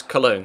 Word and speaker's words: Cologne: I'm not really too sure how to pronounce that in German. In English it's Cologne, so I'll call them Cologne.